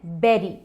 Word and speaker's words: bury: उसकी स्पेलिंग है BURY, but pronounce करते हैं बेरी, बेरी। जैसे गूसबेरी, रास्पबेरी, वैसे ही बेरी।